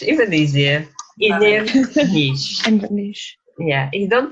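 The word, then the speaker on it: Inbhir Nis: Inner niche, even easier. Inner niche. Inverness. Yeah, you don't pronounce PH, so it's inner niche.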